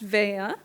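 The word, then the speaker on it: Veglia: um spelled properly for the very first time in my entire life, which is V E G L I A. Um and it's pronounced Vea.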